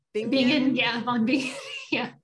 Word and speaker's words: Bingen: Hildegard of, am I pronounced Bingen? Bingen, yeah, von Bingen, yeah.